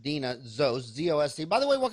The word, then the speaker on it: Deana Zost: So again, it's spelled Deanna, but pronounced Deana Zost.